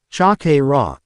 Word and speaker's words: chakra: jariah face vault at how he pronounced chakra it's chakra Naruto chak raw said a voice coming